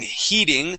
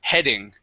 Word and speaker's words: heading: Now, this this word here, um, uh, I know in most cases when you have an e and an a together, that makes a long e sound. Okay. Uh, but instead of saying heating, the word has a short e sound. The word is he heading.